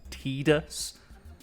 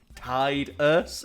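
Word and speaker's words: Tidus: character of tius which they officially say he's pronounced tus even though the entire game he's in has a water theme and his name is ti ti us and no it's tus yeah you would imagine it's tius because the the fitting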